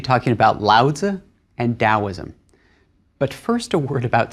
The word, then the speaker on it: Taoism: In both cases, the Chinese character hasn't changed, the pronunciation hasn't changed, it's just a different way of rendering that sound into English letters, into the alphabet. So it's Taoism and Lao Tzu.